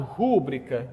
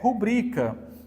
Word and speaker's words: rubrica: gente ó aqui gente pode ser pronunciado rúbrica não eu não posso localizar a CBL tônica como se fosse uma palavra proparoxítona se ela não tem acento gráfico ou seja gente a condição essencial para que uma palavra seja proparoxítona gente ela tem acento gráfico se ela não tiver não tem como ser proparoxítona então aqui não tem como ser rúbrica é rubrica aqui a mesma coisa